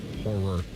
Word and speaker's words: horror: Horror. Two syllables.